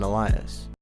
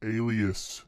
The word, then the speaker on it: alias: In addition, 3 Surrender Dorothy albums released that year, and more music was posted under the Macintosh Robinson alias. It's pronounced alias.